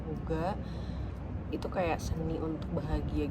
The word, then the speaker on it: hygge: Terus aku juga baca buku Lagem, terus sama Hoga, HYGGE yang dibacanya Hoga.